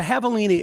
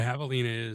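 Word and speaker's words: javelina: It looks like Oh, it's spelled with a J, not an H.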